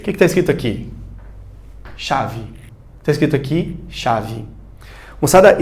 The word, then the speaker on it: chave: Você percebeu que o CH ele teve um som de X.